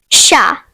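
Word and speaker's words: chat: The next French word is sha which means cat. The silent letter is t.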